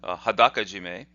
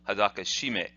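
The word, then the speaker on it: 裸絞め: in the next video, Hadaka Jime, is pronounced that way, Hadaka Jime. Oftentimes it's not pleasing to the Japanese ear to hear it instead Hadaka Shime.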